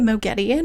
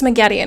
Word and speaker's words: Moghedien: You're like, is it Moghedien or Moghedien or whatever? It's Moghedien, it's what it's supposed to be, but they say Moghedien and it's really annoying.